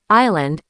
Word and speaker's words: island: Words like receipt, island, and debt are classic traps. You'll hear people say the P in receipt or the S in island. It's a natural mistake because the letters are right there.